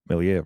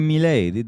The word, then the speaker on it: Milei: So the most significant part of the World Economic Forum last week was the speech by Javier Milei, right? Whatever, how do you say it? Yeah, Javier Milei, the new leader of Argentina.